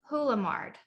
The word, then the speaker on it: Houlemard: never officially asked you the way i read it on screen in slack is hula mart that's perfect oh my gosh yeah